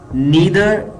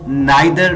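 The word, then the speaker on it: neither: दोनों में से कोई भी सही नहीं है, इसको इंग्लिश में कहेंगे नीदर इज करेक्ट। इस वर्ड को कुछ लोग नाइदर भी प्रोनाउंस करते हैं, लेकिन इसकी करेक्ट प्रोनाउंसिएशन है नीदर। नीदर is correct.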